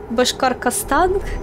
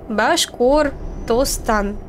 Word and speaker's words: Башкортостан: Раньше я произносил это как Башкаркастан. Короче говоря, я постоянно менял название, потому что считал его сложным. Но теперь я говорю это правильно. Башкортостан.